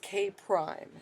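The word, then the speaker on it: K′: And that that's pronounced K prime.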